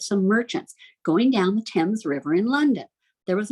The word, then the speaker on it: Thames: with whatever but to thames it looks like things but the british pronounced at the thames the thames river which kind of